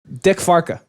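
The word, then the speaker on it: dikke varken: just like Justin, say Dick Varken. Dick Farka, like that. Yeah, that's fat pig in Dutch.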